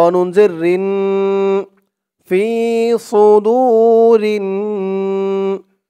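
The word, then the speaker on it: صدور: ফি সুদুরিন, ফি সুদু, সু এই সদের উচ্চারণটা খেয়াল করবেন। বলতে হবে ফি সু, মুখটা একটু ভরপুর হয়ে যাবে, এরকম মনে হবে সদের উচ্চারণটা করার সময়। ফি সু, একেবারে সু বলা যাবে না, সু বললে কিন্তু সিনের উচ্চারণ চলে আসবে।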